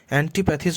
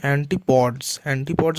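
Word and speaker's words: antipodes: দ্য অ্যান্টিপ্যাথিজ, দেখো উচ্চারণ ভুল করেছে, অ্যান্টিপ্যাথিজ নয়, অ্যান্টিপডস মানে যারা মাথা নিচু করে হাঁটে, তো সে সেখানে উচ্চারণ ভুল করেছে।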